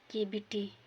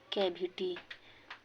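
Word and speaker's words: cavity: बिल्ली, केविटी, उच्चारण में पढ़ना कैविटी तो वो गलत है, इसका सही उच्चारण है केविटी।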